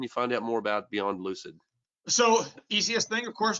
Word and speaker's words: Beyond Lucid: have small aspirations like people knowing how to pronounce my name I want to make sure it's not Lucent there is a Lucent